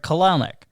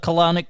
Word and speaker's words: Kelenic: the guy who they traded to Seattle, Jared Kelenic.